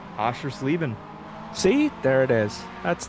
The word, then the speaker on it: Oschersleben: us talk about pizza rolls and how you pronounce Oshlerbin? Oschersleben.